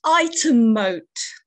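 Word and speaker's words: Ightham Mote: It's pronounced item moat.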